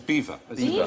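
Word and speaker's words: Belvoir: as in kept remembering the bottom is beaver beaver the Vale of Beaver I'm going to have that if I ever became a day or anything hey theme and I know it's pronounced beaver remember there's an aristocratic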